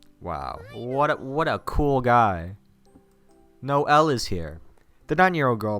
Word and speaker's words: Noelle: No L is here. The 9-year-old girl puts an emphasis on the 2 syllables of my name, laughing.